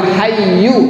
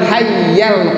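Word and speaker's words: الحي: illa huwal hayyul Qayyum di pajaknya tidak kuat haiyyu tetapi dibacanya huwal hayyul Qayyum wa atubu ilaihi Hai kalau dalam tanya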